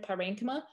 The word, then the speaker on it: parenchyma: Some people pronounce it as parenchyma. I believe it's both acceptable. I learned parenchyma.